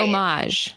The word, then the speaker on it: homage: Just pretend like there's no H. Right. Homage.